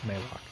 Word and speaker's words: Malok: his name it's it i think it should be pronounced maylock so anyway thanks guys